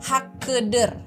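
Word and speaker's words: Hakkıdır: terakhir eh lirik terakhir itu ada hakidir kan Tapi karena Inya enggak ada titik jadi bacanya e jadinya hakeder hakeder kemudian ada lagi itu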